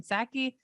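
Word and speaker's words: Psaki: house press secretary jen sackey is it like pterodactyl this b is silent uh who has joined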